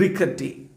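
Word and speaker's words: rickety: ദ ബസ് വാസ് ഓൾഡ് ആൻഡ് റിക്കറ്റി. അപ്പോൾ ബസ് എന്താണ്? വളരെ ഓൾഡാണ്. റിക്കിറ്റി എന്നാണ് ഉച്ചാരണം കേട്ടോ.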